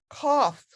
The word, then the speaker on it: cough: And number 6, that GH makes an F sound, cough. Cough.